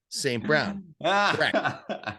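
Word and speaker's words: St. Brown: have to pause and you have to say it slow Saint Brown I finally learned it's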